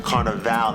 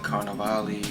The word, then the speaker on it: Carnevale: a long long time carnaval not at the end like v-a-l-e was like bill people pronouncing carnivale carnivale i just let